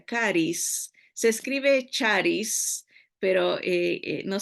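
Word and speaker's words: χάρις: griega que se pronuncia caris se escribe charis pero no sé la ch no la pronuncian así en el griego se pronuncia como con k caris eh la gracia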